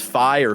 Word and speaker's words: Fi: up a poll um if it's if it's fire fee uh how we pronounce the the woman who comes out of